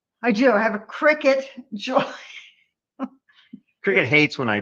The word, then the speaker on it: Cricut: gonna talk about is the cry cut am I saying it right nope how do you say it Cricket that's a bug in